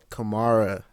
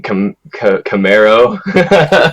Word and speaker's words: Kamaara: He is the one and only Kamaara.